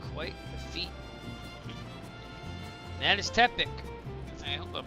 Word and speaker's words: Tepic: That is Tepic. I hope I'm pronouncing that right. See the pronunciation of that now. Tic tuk. Tuck. to peek. Tepic.